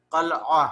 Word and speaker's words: قلعہ: کہتے ہیں قلعہ کو۔ یہ لفظ ہم عام طور پر قلعہ پڑھتے ہیں، اس لفظ کا اردو زبان میں صحیح تلفظ قلعہ ہے، قاف پر زبر ہے۔ مشیدہ، مشیدہ کا معنی